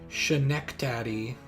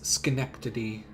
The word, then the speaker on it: Schenectady: i did huh like i want to pronounce this like chaneck daddy but it's schenectady it's really weird and